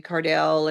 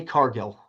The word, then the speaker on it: Cargill: I'm watching uh Jay Cardell and then I find out that one's her. Did I say it wrong? Yeah, Jay Cargill. Carell. Cargill.